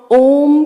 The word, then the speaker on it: ओम: जो हम ओम का उच्चारण करेंगे आज, ध्यान दीजिएगा, ये 3 अक्षरों से बना है। 3 अल्फ़ाबेट्स हैं उसमें, अ, उ, म। उ बहुत छोटा रहता है, अ थोड़ा लंबा होता है, म नेचुरली खत्म होता है।